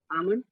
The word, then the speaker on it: almond: yeah here you go almond almond almond uh completely silent right okay hmm development okay